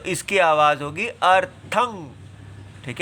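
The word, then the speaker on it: अर्थम्: देखेंगे तम एव अर्थम यह जो बिंदी होती है इसको अनुस्वर कहते हैं हम भी इसको गलत पढ़ जाते हैं आदत पड़ी हुई है अर्थम नहीं पढ़ना चाहिए अर्थम इसका उच्चारण में नासिका से ही वायु निकलनी चाहिए मुंह से नहीं निकलनी चाहिए इसलिए अर्थम म अगर आ जाए तो वो मु और नासिका दोनों से हो जाती है लेकिन अगर केवल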